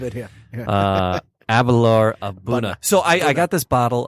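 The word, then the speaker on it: A'bunadh: Aberlour Abuna. I'm impressed that I've freaking said it right more than once. Abuna.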